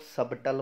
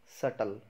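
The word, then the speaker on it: subtle: ऊपर मैं इसको लॉग सबटल बोलते हैं तो यह सब टोटल नहीं है इसकी प्रनंसीएशन होती है सटल को भी साइलेंट है तो क्या बनेगा सटल सटल का मतलब होता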